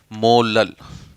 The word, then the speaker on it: molal: यहाँ simplified word में हम इसे स्मॉल m और जिसे प्रोनाउंस करते हैं क्या, मोलल, MOLAL, मोलल, ठीक है।